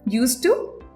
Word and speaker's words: used to: Didn't ইউজ টু বলো, দুটোর ক্ষেত্রে ইউজ টু এর উচ্চারণ কিন্তু সেম থাকছে। So there is no difference. নিজেরা বলে দেখো, ইউজ টু, didn't ইউজ টু।